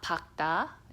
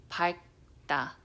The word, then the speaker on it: 밝다: They always pronounce it with another letter. And there's a word, 밝다, 밝다. Okay, it's not 박다, it's not 밝다, it's 밝다, 밝.